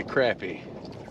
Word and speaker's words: crappie: Well, it's a crappie. And the reason I say that is because if you spell crap, you spell crap, C-R-A-P. If you spell crop, like a farm crop, it's C-R-O-P. So, crappie is spelled C-R-A-P-P-I-E.